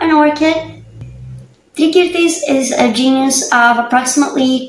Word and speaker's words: Tricyrtis: Italian more, this time I'll go with the classical Latin pronunciation, which is Tricyrtis, because it sounds exactly like the ancient Greek word from which it derives.